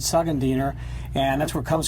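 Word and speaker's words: Szegediner: next is called the segund diner goulash well well done on that phonetically here I'm surprised now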